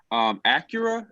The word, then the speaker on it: Acura: next one okay next row you got Honda Acura that's how you pronounce it the Subaru and me she be